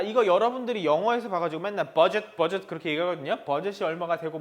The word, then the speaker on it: Budget: budget, das budget. 끝에 T는 소리가 나지 않습니다.